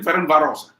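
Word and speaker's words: Ferencváros: How do you pronounce the team again? Ferencvaros.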